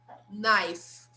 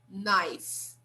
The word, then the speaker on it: knife: fork knife spoon okay observe that this letter here is silent we don't say this letter okay so we don't pronounce this letter we start here knife knife okay so fork knife